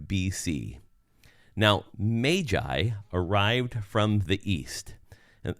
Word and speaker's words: Magi: I say their name I call them the Magi because that's probably how it was correctly pronounced rather than Magi so just think of the ma a the a there is being a long a rather than a short a so Magi now they